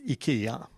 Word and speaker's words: IKEA: I have very three questions about pronunciation of IKEA in Swedish. It's IKEA or IKEA? In Swedish, it is IKEA.